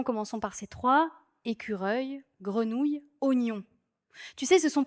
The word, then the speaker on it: grenouille: Oui, je me souviens d'un atelier où tout le monde tentait grenouille. Ça donnait des grenouilles ou même des grenouilleux.